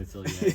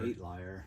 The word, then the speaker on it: atelier: And then we will start the Bradwynn Atelier. There you go. Nice. Atelier. That word. Atelier. Atelier. Would you call it the Jones Atelier?